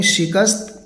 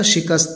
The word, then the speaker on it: شکست: کر گرفتار ہو گیا۔ یہ لفظ صحیح تلفظ ہے اس کا، شکست، اگرچہ اس کو شکست پڑھ دیتے ہیں، لوگ پڑھتے بھی ہیں، لیکن اردو کا صحیح تلفظ ہے شکست۔ ہم نے بھی اس کو شکست ہی پڑھا ہے، آپ بھی شکست ہی پڑھیں۔ شکست کھا کر گرفتار